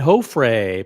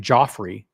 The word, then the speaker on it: Hofre: Hofre. By the way, if it weren't for me, everyone on YouTube would be pronouncing your name Joffrey. So it's Hofre.